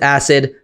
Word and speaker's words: AICD: It's called AICD, I pronounce it acid, drop that in, and